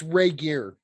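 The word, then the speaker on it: Regehr: And it's Ray Gear. It is Ray Gear. Okay, I would have pronounced it right. Okay, good. Duncan Ray Gear.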